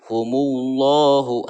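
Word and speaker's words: هُمُ اللَّهُ: fathah atau berharokat doma, ini dibacanya harus tafhim atau tebal ya, seperti apa? Humullahu. Nah ini ya, tebal membacanya. Mengenai tafhim adalah menebalkan bunyi huruf ketika diucapkan, maka penuhlah mulut oleh gemanya huruf humullahu, jangan dibaca tipis ya, humullahu.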